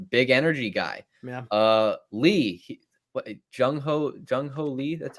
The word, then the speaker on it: Jung-hoo Lee: Lee, Jung-hoo Lee, that's how you say it? Jung-hoo Lee.